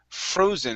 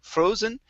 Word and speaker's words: frozen: right so first up we have the word frozen instead of fro frozen it's fro frozen give me a good o sound here there you go